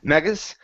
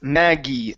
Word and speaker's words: Maggie: Okay, so make sure to pronounce the E sound at the end. Instead of Maggas, it's Maggie. Maggis.